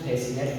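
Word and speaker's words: fascinate: Science में सी एस के बाद आ रहा है, इसीलिए यहाँ पे सी साइलेंट हो गया। इसको साइंस पढ़ेंगे, उसी इसको सीजर्स पढ़ेंगे, इसको डिसेंड पढ़ेंगे, इसको फैसिनेट पढ़ेंगे, इसको सेल पढ़ेंगे, इसे सी पढ़ेंगे।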